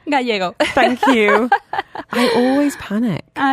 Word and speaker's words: Gallego: Delighted to welcome to the studio Araceli Gallego. No, I didn't say it right. Gallego.